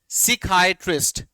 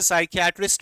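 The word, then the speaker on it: psychiatrist: Next is सिकाइट्रिस्ट, सिकाइट्रिस्ट, वैसे साइकियाट्रिस्ट भी बोलते हैं इसे, साइकियाट्रिस्ट भी प्रोनाउंसिएशन आपको नेट में देखने को मिल जाएगी, बट इस बुक के अकॉर्डिंग आपको क्या मिल रही है, सिकाइट्रिस्ट या फिर साइकियाट्रिस्ट। साइकियाट्रिस्ट भी बोल सकते हैं और सिकाइट्रिस्ट इस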